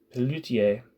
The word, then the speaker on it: Pelloutier: Ferdinand Pelloutier is my guess of how you pronounce that, but Pelloutier. Pelloutier. Pelloutier, got it right, began to favor the label,